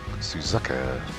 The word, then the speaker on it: Suzuka: Suzuka. That's how you pronounce that.